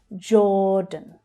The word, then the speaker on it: Jordan: Jordan, Jordan. Again, the j consonant sound, followed by the or vowel sound. Or as in door. Jordan. Jordan. The second syllable is unstressed.